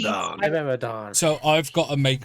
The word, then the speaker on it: Pteranodon: So, Yeah, but the P. Pteranodon.